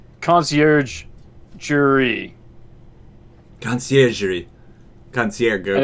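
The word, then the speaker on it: Conciergerie: yeah it's a lot funny to call it country agree and it's concierge jury concierge concierge and it's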